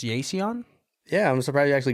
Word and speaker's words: Yeiseon: so we have uh it's is it it's pronounced yon yeah I'm surprised you actually got that one